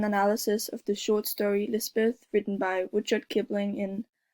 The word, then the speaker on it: Lispeth: She was baptized by the chaplain as Elizabeth, but Lispeth is the hill or fairy pronunciation in the story.